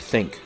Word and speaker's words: Thync: For a slightly more of a monetary investment, you could look to a wearable tech like Think. That's spelled THYNC, a device that produces electrical impulses to help your brain decrease stress.